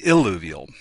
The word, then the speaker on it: illuvial: So you have to be careful with your pronunciation, eluvial and illuvial.